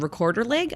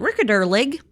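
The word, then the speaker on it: Rekorderlig: No, it's like it's a Swedish cider, or apparently in Sweden they call it recorder leg. Apparently that's how you pronounce it. I don't really know, but whatever. We anglicize it, and it's a recorder leg.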